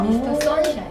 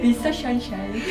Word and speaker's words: 미스터 션샤인: 미스터 선샤인. 션샤인 귀여워요. 네. 미스터 션샤인. 아니 애니 대표님 발음 지적 진짜 심하시더라고요.